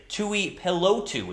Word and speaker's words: Tuipulotu: TUIPULOTU is how you say his last name, the defensive tackle out of USC.